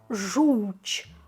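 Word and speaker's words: żółć: І є це, яке ми читаємо як ч. Так. І такі типово польські літери, яких немає в інших мовах. Хоча звуки такі, звичайно, є, але самі літери унікальні. Тому кажемо жуч. Жу у в жуч. Жуч.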